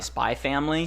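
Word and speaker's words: Spy x Family: issue a correction I found out today that in spy expand Leda spot the X is silent much like hunter hunter oh so so how you say it is just Hunter hunter instead of hunter x hunter so you say spy family so I'm a personal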